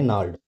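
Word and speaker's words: gnarled: यहां पर जी साइलेंट है। तो इसको क्या बोलेंगे? नाड।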